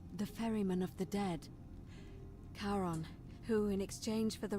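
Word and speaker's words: Charon: coin just as you described it only your pronunciation is a little off the name you heard wasn't Karen it was c h a r o n so we're dead the ferryman of the Dead karon who in exchange for the right coin helps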